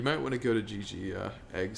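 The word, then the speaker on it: Jiji: Oh, Gigi. G-I, or J-I-J-I is how it's spelled.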